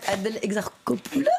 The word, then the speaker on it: Adèle Exarchopoulos: Je vous laisse prononcer son nom. Adèle Exarchopoulos.